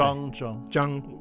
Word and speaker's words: Chang: This is about the alphabetical system for the pronunciation of Chinese characters. In the 19th century, a British diplomat and sinologist called Thomas Wade, he actually created a universal alphabetical system for Europeans to pronounce Chinese characters. So that's called the Weijiao system, and my name is spelled in the Weijiao manner.